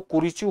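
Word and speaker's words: Kurichhu: इसको वहां पर इसका जो प्रोनाउंसिएशन होगा वो कुरिचू होगा और इस प्रकार से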